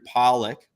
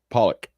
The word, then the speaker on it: Pawlak: again podcast on today's show we've got andrew pollock am i pronouncing that correctly you got it pop pop is it pollock or pollock pollock you had it right the first time okay